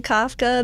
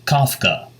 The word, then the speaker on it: Kafka: I always say Kafka. That's what my friend Gwen Shapiro always tells me. Okay. I trust Gwen's pronunciation of her own company's product. Pronounced Kafka, like cough drops or coffee.